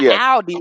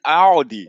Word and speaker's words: Aldi: It's not Aldi, it's Aldi.